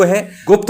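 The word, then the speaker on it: ह्रीं: हिंग बोलना है। श्री बोलना है। हिम नहीं बोलना। श्रीम नहीं बोलना। यहां पर अनुस्वार में ग का उच्चारण करना है। मैं का उच्चारण नहीं करना।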